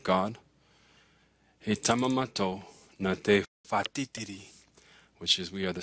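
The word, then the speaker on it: whatitiri: WH, when it's together, it's pronounced like an F. So this word here it's not watiriti, it's fatitiri, which is thunder.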